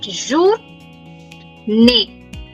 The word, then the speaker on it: journée: Bon, jour, like bonjour, but jour, ne. Ne because last E is silent. It's not ne, it's ne.